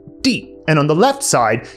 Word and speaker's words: 地: So it's pronounced di, and on the left side, you have the soil component.